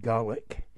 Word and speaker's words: Gaelic: you have the gaels speaking garlic which is how we pronounce it by the way and they're typified by